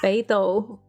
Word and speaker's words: Beidou: Beidou. Beidou. Okay. And then Ganyu? Ganyu. Ganyu. And then Lisa. Yes. No problem pronouncing that one.